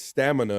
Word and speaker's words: stamina: I think it's stamina, and you said stanima.